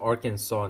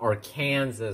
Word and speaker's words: Arkansas: Yes, pronounced Arkansas, not Arkansas. This has something to do with the French exploration crap.